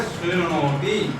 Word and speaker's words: शृणोति: शृणोति, क्या है उच्चारण?